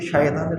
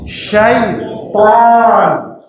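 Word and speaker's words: شيطان: শয়তান বললে শব্দের পরিবর্তন হয়ে গেল। এই জন্য তারতিলের সাথে, মাখরাজের সাথে, তাজবিদের সাথে কোরআন তেলাওয়াত করার কথা বলা হচ্ছে। কি উচ্চারণ করতে হবে? শক্তি দিয়ে। শাইতান, খুব কঠিন ত উচ্চারণ করা।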